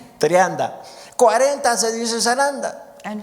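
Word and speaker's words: σαράντα: 40 se dice zaranda.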